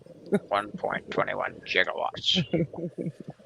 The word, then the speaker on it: gigawatts: time at the time words that started like that were pronounced with a soft G that's why we have